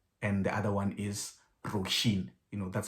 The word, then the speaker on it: Róisín: apparently means ocean and the other one is roshin you know that's how you pronounce um you pronounce it too and okay